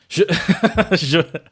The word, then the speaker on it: животное: Животное.